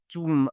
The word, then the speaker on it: tomb: sorry you have like some other words like the word tomb for example with a b at the end like the word climb and climbing and so on.